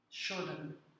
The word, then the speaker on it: Shodhana: Shodan.